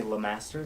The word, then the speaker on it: Lemaster: you say I say Lemaster like it spell them it's it's not spelled how you say it right it's spelled like you say like remaster but it's lemaster right I thought maybe we